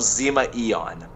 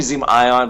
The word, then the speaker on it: Zima Ion: I called myself Zima Eon because I wasn't entirely sure like how to pronounce it, because he told me Zima Ion, but I think I was just so flustered that I wasn't even hearing it correctly.